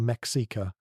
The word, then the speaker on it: Mexica: They called themselves the Mexica, pronounced me, S-H-E-E-K, and they were absolutely not the original inhabitants of the Valley of Mexico.